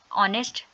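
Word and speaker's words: honest: ऑनेस्ट। Second example ले लेते हैं ऑनेस्ट की। एच साइलेंट हो गया।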